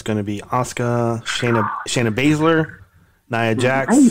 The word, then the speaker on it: Shayna Baszler: It's going to be Asuka, Shayna Baszler, Nia Jax.